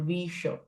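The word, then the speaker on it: विष: There are two types of sha. One is a sh from Shiva and one is sh from dhanusha or visha. This next sh so both will not have same type of pronunciation isn't it? Shiva and vsha retroflex sh.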